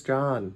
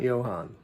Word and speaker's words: John: My name is John, not Johan.